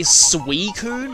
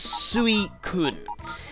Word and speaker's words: Suicune: maybe but it's like people often say suicune as if it's SW EE I know that's actually what one of the guide books describe its pronunciation as but that's not really what it is it's sweet kun and it's more of a hard sound like a hard K than a C and you could be